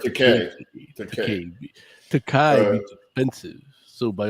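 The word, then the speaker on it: Takei: And George Takai basically sent out a tweet. It's pronounced Takai.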